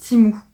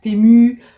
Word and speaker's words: Temu: Et oui, ça se prononce Temu. Je sais qu'il y en a beaucoup qui disent Temu, Temu, mais non, ça se dit Temu.